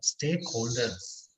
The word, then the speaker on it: stakeholders: What is the last sound? Ra. Ra. Is it pa, ta, ka? No, sir. No. Then it will be za. Stakeholders.